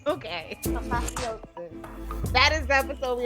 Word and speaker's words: Apotheosis: How do you pronounce this episode's title? Because we didn't get anybody to say it. Oh, that's right. Apotheosis. Okay. Apotheosis.